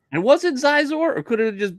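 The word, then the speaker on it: Xizor: But did they give you a full Zizor? That's what I'm saying. They give you a name. Give you a Zizor in a holograph. Isn't his name pronounced Shizor? It is Shizor.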